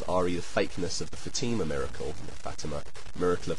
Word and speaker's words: Fatima: Uh, I love the way you emphasized your pronunciation of Fatima. Uh, Fatima to show that I had stressed it wrong. Um, but Fatima is the way I've heard other people pronouncing it and it's possible you're correct and it's Fatima. But anyway, I just wanted